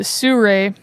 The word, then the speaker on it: Sirui: It looks like Siriu also, but they pronounce it Suray tripod and head system for like $280.